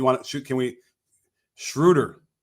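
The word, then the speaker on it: Schröder: to shot can we schrudder not schroer schrudder let's say it with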